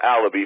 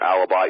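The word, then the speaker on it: Alibey: well Josh allaby and it is a lobby for those that are wondering i know people called an alibi even urban meyer's pronounced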